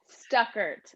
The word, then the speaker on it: Stuckert: Do I pronounce well? Yes, Stuckert.